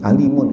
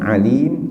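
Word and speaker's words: أليم: diancam dengan azab yang alimun, itu yang amat pedih, ya. Ingat, ini bacanya bukan alim tapi alim. Jadi makhraj ini memang penting dalam bahasa Arab.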